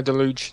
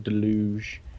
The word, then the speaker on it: Deluge: might have seen uh Deluge the Deluge however you pronounced it trailer yeah you you got it right the first time delou and I watched Monster